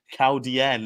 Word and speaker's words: Chaldean: are done and dusted Chaldean and more just as I said cow Diane is the actual pronunciation of the horse there is many people